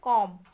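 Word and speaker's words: calm: Then है कॉम. कॉम में B letter silent है.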